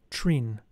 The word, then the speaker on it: Trin: Prolong the sound of the vowel I and of the consonant N, giving it tones similar to a bell.